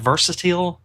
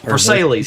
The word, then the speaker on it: Versailles: cabal live on the vers how do you pronounce that? Versatil vers Verselles. Versailles.